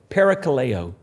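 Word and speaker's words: παρακαλέω: Simplicity of scripture but that word is a word that we would pronounce this way pericaleo and it means to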